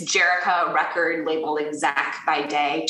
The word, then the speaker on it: Jerrica: It's Jerrica, right?